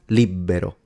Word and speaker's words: libero: So, for example, the word libero, pronounced libero. It's written with a B, but a lot of southern people pronounce it as if it had two.